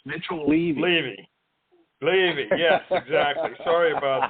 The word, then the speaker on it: Levy: By the way, it becomes more credible when you pronounce the guest's last name properly. So it's Mitchell Levy.